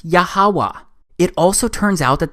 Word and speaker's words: Yahweh: simple back then that it vocalized each consonant with an ah sound without specifically marking that sound between consonants. So this YHWH, it's pronounced Yahweh.